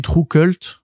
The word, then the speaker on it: TRVE KVLTE: sortis, donc voilà, donc ce qui s'écrit, ça se lit True Cult, mais c'est TRVE KVLTE.